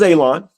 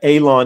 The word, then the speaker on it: Alon: Um my name is Alon. Pronounced like you're gonna cut grass. It it's like you're going to cut Alon.